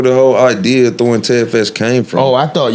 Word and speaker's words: Ted Fest: Do we pronounce it Ted's Fest or Ted Fest? Ted Fest.